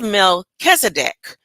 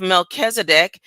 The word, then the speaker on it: Melchizedek: This emphasis is on the second syllable Kiz.